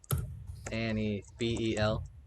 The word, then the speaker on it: Anibel: Oh, just to be clear though, it is spelled Anibel. Annie Bel.